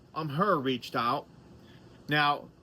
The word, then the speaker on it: AMHEH: I've done a couple of backpacks, but a company called um her reached out. Now, it's spelled A M H E H, but it's